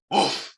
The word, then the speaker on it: WOFF: 제일 유명한 형식인 WFF 형식이라고 하는 것이 있는데 이거를 어떻게 읽어요? 우프 이렇게 읽으시면 돼요. 개가 짖는 것처럼 우프 이렇게 우프 네, 어제에 이어서 이런 발음이 나오네요.